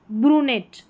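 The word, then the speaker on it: brunette: फिर यहाँ पर है ब्रूनेट, ब्रूनेट, ब्रूनेट। बहुत ये सारी स्पेलिंग्स थोड़ी टफ है, इनको पढ़ लें, इनका अपना मतलब भी होता है, हिंदी में अर्थ दे रखा है।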